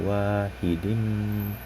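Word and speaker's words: وَاحِدٍ: Di situ matobi lagi, kulla wahidim. Nah, di situ terdapat hukum idgham bigunah karena terdapat huruf berharokat tanwin yang bertemu dengan huruf-huruf idgham bigunah, yaitu mim, sehingga dibacanya berdengung.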